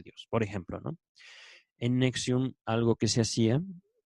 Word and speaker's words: NXIVM: Se escribe la secta, el nombre de la secta, NXIVM, y se pronuncia Nexium.